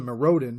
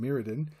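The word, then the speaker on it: Mirrodin: hell is this well I call it marodin because that sounds way cooler than meridin but then the guy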